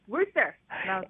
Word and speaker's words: Worcester: I was calling it Worcester. I was like, you're saying it wrong. It's Worcester.